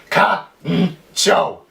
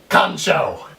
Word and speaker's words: カンチョー: So at the top here it would be pronounced ka-n-cho, kancho. But down here it's a little different. It would be ka-n-cho. You see? Ka-n-cho. You see that? That's the cho. So all together now you would say, KANCHO!